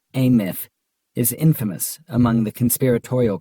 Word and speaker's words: AMF: The Andrew Melvin interrogation footage, AMF, pronounced ath is infamous among the conspiratorial community of old house archivists, OAS, pronounced ohas.